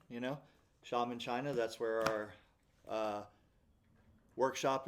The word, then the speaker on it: Xiamen: Xiamen is pronounced like an Indian shaman, Xiamen, China.